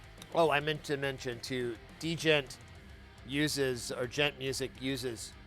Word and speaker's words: djent: So this music is metal, but it's a type of metal known as gent or djent. I guess I've been pronouncing it wrong forever, but there is a D. It's D-J-E-N-T.